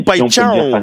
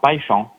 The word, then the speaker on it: Paixão: Tu vois, la paille et le champ, tu vois, Paixão. Mais ça s'écrit pas comme ça s'écrit Paixão, non? Oui, mais le X se dit che. Le X se dit che et le AO se dit un.